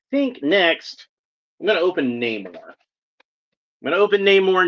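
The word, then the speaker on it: Namor: not going to say we're not saying that it's neyar it's been neyar in the comics for like you know 70 years practically now so I'm I'm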